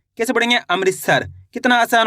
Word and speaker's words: अमृतसर: अ म की मात्रा अमृत त स और र। तो मिलके बन जाएगा अमृतसर। कैसे पढ़ेंगे? अमृतसर।